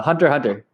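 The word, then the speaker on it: Hunter × Hunter: x hunter yeah yeah it's spelled hunter x hunter but people said that the real the creator wanted it said hunter hunter i'm not sure why he put an x there for dude that's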